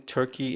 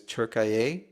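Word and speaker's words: Türkiye: I feel like I'm pronouncing Turkey incorrect. I mean, there's Turkaya when I was there.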